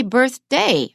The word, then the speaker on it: birthday: modifying a noun so birth day we stress the first syllable the first noun the noun that is